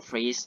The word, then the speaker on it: ฟรีซ: ช่อง ขอ สัก คำ ห้าม อ่าน ว่า ห้าม พูด ว่า ช่อง ฟิต นะ ต่อ ไป เนี้ย ต้อง ชื่อ หรอก ต้อง พูด ว่า ช่อง ฟรีซ นะ ครับ ใช่ ๆ ต่อ